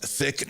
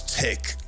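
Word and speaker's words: Thich: already there so relax thick not Han whose name I'm mispronouncing once wrote with every step I take I have arrived H I think it's tick not thick despite the uh the H but now I'm hoping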